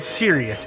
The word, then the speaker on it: Sirius: Disclosure put out they have it's almost a 2-hour documentary about them and what they're after, and it's called Sirius, SIRIUS, I believe is how you pronounce it.